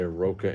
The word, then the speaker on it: Roka: ramon dino spelling name that's why we say roka in english is like rocks and korres is like k roz k ross yeah i know i